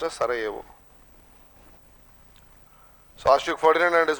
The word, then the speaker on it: Sarajevo: Written as Sarajevo, pronounced as Sarajevo.